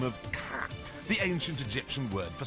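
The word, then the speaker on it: Ka: this unusual looking thing rejoices under the equally bonkers name of cat the ancient egyptian word for soul although it's often instead pronounced just like someone from boston would say the word car wicked cow is that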